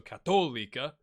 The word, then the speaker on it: Católica: Okay, so I got a comment that said the accents to help you put the emphasis on the syllable, right? So Católica, Católica, Católica, I think is what we're going with.